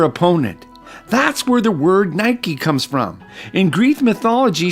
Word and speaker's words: Nike: my first pair of Nike shoes I pronounced it with one syllable not two and I made it a plural Nikes but even in the